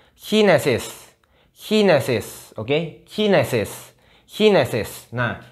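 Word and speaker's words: Chinesisch: Bacanya Chinesis. Chinesis.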